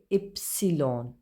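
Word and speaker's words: ipsilon: वाई को बोलेंगे इप्सिलॉन, इप्सिलॉन।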